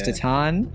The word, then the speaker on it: Titane: remedial class for sure we've been calling it Titan t Titan it's been ridiculous but it's tatan I mean yeah I